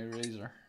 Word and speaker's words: eraser: Here's my eraser. My eraser. Eraser. Eraser. No, you don't pronounce it. You don't pronounce it like Z. You pronounce it like C, like race.